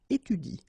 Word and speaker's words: étudie: pronounce it like il étudie. Okay? So the last thing that you will pronounce will be the vowel I here.